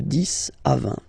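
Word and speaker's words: dix: to 20 okay the this okay so let's start now this okay so remember final x here is pronounced like S this this okay then okay so o + n give you the sound.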